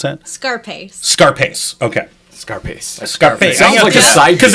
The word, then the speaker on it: Scarpace: me with your last name how do you pronounce that scarpace scarpace okay scarpace scarp because if you want